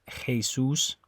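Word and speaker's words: Jesús: Jose j-o-s-e um or like the name Jesus in Spanish the way you say it is Jesus okay so that Jay makes like an H sound so anyway it's always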